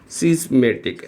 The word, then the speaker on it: schismatic: Spelling देखना friends, बड़ी अच्छी स्पेलिंग है, SCHIS, सिस्मेटिक, MATIC, SCHISMATIC, सिस्मेटिक।